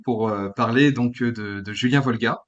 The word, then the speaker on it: Wolga: parler donc de Julien Volga. Je prononce bien ton nom de famille? Oui, Volga, c'est ouais, ça? ouais, ouais, ouais. Ok, Bon, après, je suis pas Horté si tu dis Wolga, mais voilà, à ok, ça l'usage, on marche.